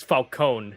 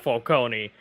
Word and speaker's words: Falcone: they call him for falcone here in the in this version and apparently it's it's falcone not for kony it's how it's i mean it sounds more italian yeah i know but